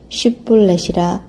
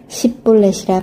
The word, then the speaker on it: 쉿볼렛: 아니라 하면 그에게 이르기를 쉿볼렛이라 발음하라 하여 에브라임 사람이 그렇게 바로 말하지 못하고 십볼렛이라 발음하면 길르앗 사람이 곧 그를 잡아서 요단강 나루턱에서 죽였더라.